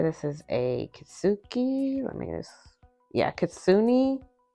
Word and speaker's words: Kitsune: Kitsune Kasuni, that's how you say it.